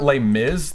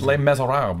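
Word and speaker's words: Les: Lees that's the way it's not L Miz the French don't pronounce it that way it's Lees I don't know I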